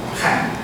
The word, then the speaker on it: Khan: But Khan Academy, it should pronounce as Khan.